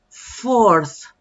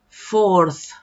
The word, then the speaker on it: fourth: Fourth. Fourth. Esa TH al final es importante pronunciarla bien.